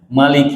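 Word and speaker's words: مَلِكِ: Kenapa tadi beda ya, As-Susi membacanya Maliki yang maknanya pendek? Karena Al-Quran ini Al-Fatihah diturunkan 2 kali. Al-Fatihah diturunkan 2 kali. Yang pertama diturunkan dengan bacaan sebagaimana yang kita biasa baca. Yang kedua itu bacanya Malikinya maknanya pendek bacanya. Dan dua-duanya ada riwayatnya dan duanya benar.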